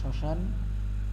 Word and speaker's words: শ্মশান: এখানে শ্মশান এখানে নাসিক্য বর্ণ উচ্চারণ হচ্ছে না এজন্য চন্দ্রবিন্দু হয়েছে আর বাকি